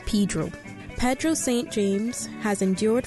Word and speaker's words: Pedro: Although spelled in the traditional Spanish way, Caymanians pronounce the name as Pedro.